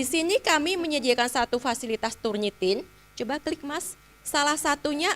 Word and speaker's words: Turnitin: Ada satu saya akan perkenalkan dulu satu tools namanya turnitin. Sebenarnya turn it in ya, turn it in gitu ya.